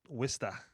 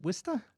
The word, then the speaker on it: Worcester: The minute I see Worcester, it's, oh God, Is that how you pronounce it? Worcester. Is it Wista?